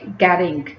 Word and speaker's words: getting: Because T is between two vowels, when T comes between two vowels, American sounds it like fast D. इसे pronounce करेंगे getting.